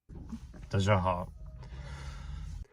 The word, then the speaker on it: 大家好: 大家好， Immediately, this is the second syllable, 大家, I don't make the Y sound at all. Notice that. 大家好，大家好,大家好,大家好.